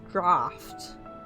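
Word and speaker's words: draught: I'll be honest, I was distracted by G R A U G HT being pronounced draft instead of draw.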